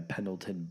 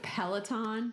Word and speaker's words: Peloton: out and buy a Pendleton bike that's $3,000 and tell you how it works. Unless Pendleton. Are you talking Peloton? Peloton, whatever. You got to say it right, man. Peloton.